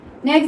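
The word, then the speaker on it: knock: Next देखिए नॉक, इसमें हमारा ये के स्टार्टिंग वाला साइलेंट रहता है, तो हम इसको क्या पढ़ते हैं?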